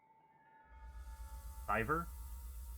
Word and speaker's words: Cyver: Thank you, is it Siver or Kyver TV? Just curious. I guess it could be Cyver as well. How do you prefer it to be pronounced? Cyver? Okay. So like Fiverr, but with a C.